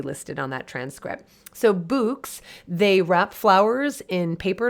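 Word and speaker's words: Bouqs: sustainable online retailers like books i think i'm pronouncing it correctly b-o-u-q-s dot com books like bouquet b-o-u-q-s dot com and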